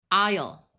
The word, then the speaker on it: isle: Here ai has a long i sound and the s is silent. Isle.